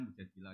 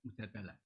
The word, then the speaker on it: Mujadilah: Makanya di Quran ada surat mujadilah yang benar itu bacanya mujadilah yang level A. Tapi umumnya orang baca apa? Mujadalah.